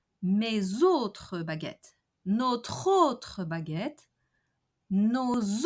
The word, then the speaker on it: mes autres: Mes autres baguettes, notre autre baguette, nos autres baguettes. Each time the possessive adjectives ends with an S, we have a Z pronunciation liaison.